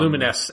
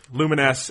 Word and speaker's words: Lumines: lumines is his yeah luminess as it is actually pronounced luminesce and luminous right yeah